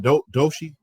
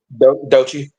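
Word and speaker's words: Doechii: But the reason how you say her name again? Doshi? Dochi. Dochi.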